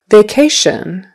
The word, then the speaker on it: vacation: for those CH sounds vacation so vacation with a long a for V and K and then a shun another shun word t o